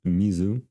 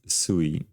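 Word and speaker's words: 水: same and the like if you just say water in Japanese it's Mizu but they also have a Chinese pronunciation which is similar to the actual Chinese so in Chinese it's wait shy sh you have to kind of go up down up and in Japanese it's sui as in sui which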